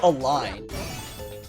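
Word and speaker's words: Elline: Eileen Natalie you know Eileen rainbow curse rainbow curse rainbow curse and I always it was I heard it pronounced a line a line yeah because she is drawing a line yeah she trusts Wow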